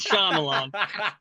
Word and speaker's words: Shyamalan: in Lady in the Water by M Night Shyamalan I was Shalon I I've never been able pronounce that last name it's Shan I would love to know what that experience